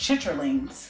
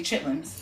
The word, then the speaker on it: chitterlings: Which is another delicacy, but it's like a soul food thing, and it's properly pronounced chitterlings, but we say chitlins.